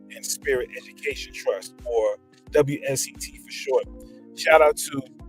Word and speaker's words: WSET: Prior to her, we were calling the W set. She said, no, the proper pronunciation is WSET.